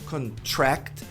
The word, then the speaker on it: contract: Mas não é a pronúncia do verbo contratar é can. C é um eato, na verdade, e a tônica é tá no final, é a última sílaba.